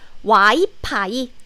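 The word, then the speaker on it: 와이파이: world of wi-fi wi-fi and wi-fi has the f sound however in korean we don't have the f sound so instead of the f sound we replace the sound with p sound as y pi so you can say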